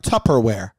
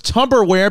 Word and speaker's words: Tupperware: are you talking about tupperware tupper it's chopper it's tougher babe it always has been always will be yeah did you know that pimp that it was tupper i thought it was tubberware because it kind of looks like a tub you know that makes